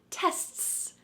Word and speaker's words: tests: to the next level there's something about the word t that makes it a little bit harder than a k so let's slow down